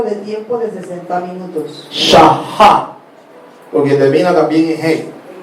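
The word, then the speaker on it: שעה: Al final, en el hebreo, cuando esta letra aparece, la letra Hei se debe pronunciar como una J. Shahá.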